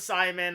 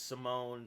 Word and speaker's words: Simon: I I thought it was Simon. I I didn't even think to look up the fact that it was Simone.